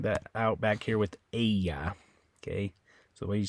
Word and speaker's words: ella: Ella okay in Spanish it's incorrect to say Ella you say Aya Aya okay uh so